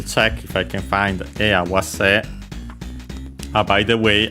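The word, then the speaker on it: 合わせ: Okay, we'll check if I can find awase. By the way, awase on its own is luckily accented on the last syllable as expected according to the rules, because the original verb is accented.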